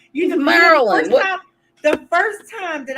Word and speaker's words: Maryland: You don't Now need to I pronounce can every get you fucking saying syllable. Mary Lynn, like Maryland.